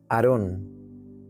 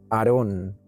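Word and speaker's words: ארון: Este artefacto en hebreo es la palabra H727 y se dice o se se pronuncia Aarón. Aarón.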